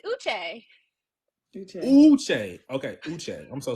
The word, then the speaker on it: Uche: Robert, they're gonna eat you up if you don't pronounce these African names this season. Is it you call Uche? him Uche? It's Uche.